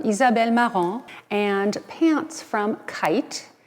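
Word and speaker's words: Khaite: maron and pants from kite spelled with a kh and my shoes are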